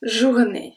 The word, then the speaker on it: journée: Journée ends with E-E. We are not going to pronounce the E at the end.